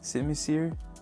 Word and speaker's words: Simisear: But for today, let's focus on this Simisear.